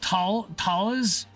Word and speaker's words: Thales: How do I pronounce Thales? Did I say Thales or Tails? I don't know. Oh no? What? Me not being British means I'm about to get it wrong? Does have a reduced radar cross-section design with or scattering trailing edges and thalls. I've only ever heard it pronounced talas when dealing with them.